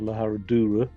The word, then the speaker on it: Herradura: This large road all the way along until we get to La Herradura, or La Herradura, really it's pronounced.